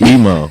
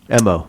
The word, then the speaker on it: MO: MO. MO. Just so you guys know, MO, it's in the dictionary, the pronunciation when it's spelled out. Yeah. So that's the letter M and the letter O.